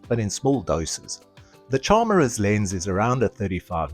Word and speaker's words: Charmera: It's pronounced charm, as in charm, because of its size. Combine that with the error part of camera, and you've got it, Charmer.